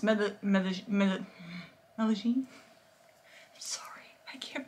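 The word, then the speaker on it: Medellín: I'm going to say it like a total white girl, Medlin. But it's Medellin.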